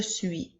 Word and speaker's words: suis: s u i s le S final nous ne le prononçons pas c'est une lettre muette alors je suis le